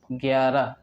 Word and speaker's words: گیارہ: طيب، گیارہ گیارہ گیارہ، نطقه گے و یا و را، گیارہ گیارہ.